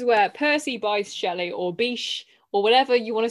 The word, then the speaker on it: Bysshe: I think people say Bish, but that just sounds stupid to me.